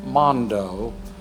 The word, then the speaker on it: Mando: name is Mondo sence kind of spelled like Mando but Mondo he's a nice man